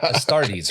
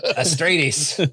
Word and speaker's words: Astartes: Hey, I got Astartes right for once. You did get Astartes. He's all Astratus. Astrates.